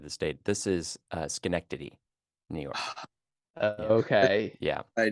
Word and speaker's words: Schenectady: other side of the state this is uh Schenectady New York okay yeah I did not pronounce it uh that's that's fair that's fair yeah Schenectady um Arthur's Family lived in an in and